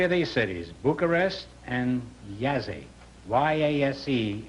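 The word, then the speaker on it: Jassy: Bucharest and Yazzie. Y-A-S-E, it's pronounced. It is spelled J-A-S-S-Y. Oh. Bucharest and Yazzie.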